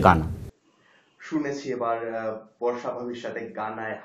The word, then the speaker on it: Ghana: Real উচ্চারণটা হচ্ছে গানা, স্পেলিংটা হচ্ছে GHANA। এটা হেইসটা অলওয়েজ সাইলেন্ট থাকবে, যখন উচ্চারণ করবেন তখন হচ্ছে গানা।